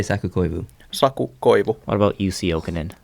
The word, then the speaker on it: Saku Koivu: Saku Koivu, What about Jussi Jokinen?